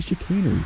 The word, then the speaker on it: Chicanery: It is pronounced the Chicanery, by the way, not the Chicanery or the Chicanery or the Chicarny or whatever other people say.